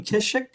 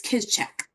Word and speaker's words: Kischek: Kishik? Very close. A lot of people mispronounce it, but it's Kizchek. Kischek?